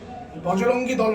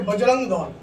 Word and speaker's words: বজরং দল: নামটাকে ভালো করে জানুন বজরঙ্গী দল নয় আমাদের সংগঠনের নাম হচ্ছে বজরং দল বজরঙ্গী দল স্বয়ং আমাদের বজরঙ্গবলীর নামে এই সংগঠন তাই আগে উনাকে আমি বলব যে উচ্চারণটা ঠিক করবেন ভবিষ্যতে কারণ এরপরে আপনাকে